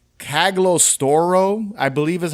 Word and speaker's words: Cagliostro: They had a treatment for this film called, it's called Cagliostro, I believe is how you pronounce it, Cagliostro.